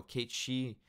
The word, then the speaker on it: Cait Sith: so though and then Cait Sith is or no Kate she is how they how they're gonna be pronouncing it because I think that's how the Japanese version is like Casey or